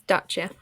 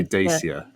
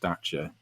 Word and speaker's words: Dacia: he always called it dacia and i think at one point might have pointed out it's pronounced dacha because it's romanian and that's how you say it but yeah this new